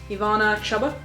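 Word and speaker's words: Ivana Chubbuck: I'm reading the power of the actor by Ivana chabuk that's how you pronounce it it's about acting it's uh good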